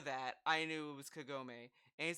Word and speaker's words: Kagome: that kagame life-threatening right kagame dude it's kagome oh my god dude